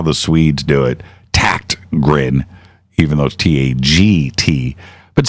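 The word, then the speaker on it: Tägtgren: up it's ta GT GRE n but it's pronounced like with a k' that's how the Swedes do it tact grin even those ta GT but send Peter a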